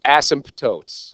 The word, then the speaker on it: asymptotes: then it hit me when I looked up the word there's a P in it and I'm like he has been saying this right for the what month I've known him and I've been saying it wrong for the past six seven years okay but it's asymptotes all right now but